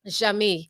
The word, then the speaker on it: Jeamie: Jeamie.